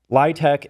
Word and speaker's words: LIHTC: LITC is the way that you pronounce the acronym LIHTC for low-income housing tax credit.